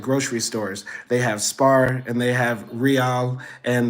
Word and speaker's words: Spar: I mostly shop at Spar SP a r uh I know the hungarians if they're going to to watch this later will chastise me about my pronunciation they'll say it's pronounced Spar not Spar but whatever SP a